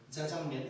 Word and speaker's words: 짜장면: 몇 년 전이긴 한데 어떤 아나운서가 TV에서 이런 말을 한 건 봤어. 자장면이 맞는데 너무 자장면이라고 하면 좀 거부감이 있으니까 애매하게 발음을 한대 안나우서 짜장면 아 그니까 이런 건 아닌데 아무튼가 짜와 자의 중간 어딘가로 발음을 한다고 하더라고 그것까지 내가 들었는데 아무튼가